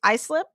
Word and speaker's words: Islip: Did I say it right the first is islip? Like I slip on the ice?